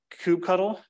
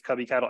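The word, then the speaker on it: kubectl: do this uh via I've been told Cube cuddle Cube I don't know if it's a long u if it's a short u someone could say it's cubby cattle I don't care I don't have skin in the game like I'll say whatever it is but this is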